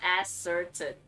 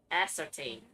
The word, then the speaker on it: ascertain: has brought upon bellabog so that's how you pronounce that word I always thought was ass certain it's ascertain got it you've always known the invisibility of